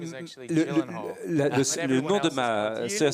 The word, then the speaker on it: Gyllenhaal: Alors, première chose très importante, personne ne sait bien prononcer votre nom. Alors, que ce soit clair, ça se dit comme ça. Gyllenhaal. On peut le refaire? c'est ça. Voilà. Gyllenhaal. Gyllenhaal. Vous êtes d'origine suédoise, en Suède, les gens le prononcent bien.